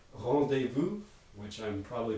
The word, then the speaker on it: rendezvous: nasal vowels in english so how are we going to pronounce that in english rendezvous right so we repair it to be a vowel plus nasal sequence um another one